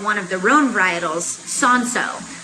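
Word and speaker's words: Cinsault: of their own varietals sanso or it's spelled c-i-n-s-a-u-l-t looks like sin salt um son-so grew really well and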